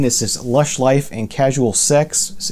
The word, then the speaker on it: CSLSX: This is Lush Life and Casual Sex. It's spelled CSLSX, and with their album Ritualize.